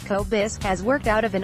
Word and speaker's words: Kobos: The birth of a side hustle since 2008, by day, Kobos, pronounced Kobos, has worked out of